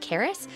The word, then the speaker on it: Carys: For those of you that aren't in the know, my name is actually pronounced Karis, and carousel has recently recently become one of my nicknames.